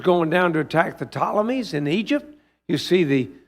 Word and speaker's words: Ptolemies: One is the Ptolemies, and that's spelled with a P, P-T, Ptolemies.